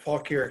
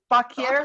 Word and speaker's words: Fauquier: Cousin Betty lives in that Fauquier County that you can't pronounce. Oh. So she's right there in the middle of them. How do you say that? Fauquier. Fauquier? Fauquier.